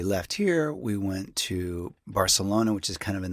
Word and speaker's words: Barcelona: But you're supposed to say it like Barcelona. That's how you know you were there. It's the Castilian Spanish.